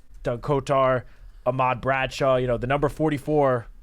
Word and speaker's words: Kotar: They listed on Pro Football Reference Kotar, and Kotar, it's spelled Kotar, but we always knew him as Kotar. That was the way you pronounced it.